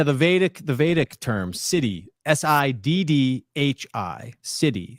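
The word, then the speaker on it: siddhi: The vdic the vadic term city. Si dd hi. City. It's pronounced the same as as city, like Gotham City in Batman lore.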